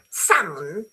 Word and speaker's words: salmon: Salmon, you don't pronounce the L.